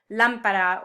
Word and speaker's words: lámpara: And this is another sound the Spanish language gravitates to, these words that have the emphasis on the third to last syllable, like albóndiga or lámpara or esdrújula, a word